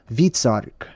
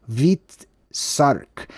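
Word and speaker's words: Hvitserk: But this island right here is called Vitsark, right? It's spelled differently across the board from language to language. H-V-I-T, Vit, or Vitsark. Very interesting.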